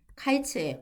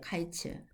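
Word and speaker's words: קַיִץ: 그리고 발음도 이제 히브리어로 여름이 카이츠예요, 카이츠. 근데 이제 종말 끝이라 하면은 케이츠입니다.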